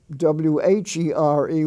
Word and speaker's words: where: went over there or w-h-e-r-e which is pronounced where where are you going or w-e-r-e were like